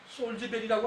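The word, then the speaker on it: Salisbury: 솔즈베리라고 합니다. 솔즈베리. 근데 이 솔즈베리의 스펠링을 보면은 요 살이 누구냐? 살. 이게 삼신할머니입니다. 불이 스펠링대로 발음하면 살리스불이라는 걸 알 수가 있습니다.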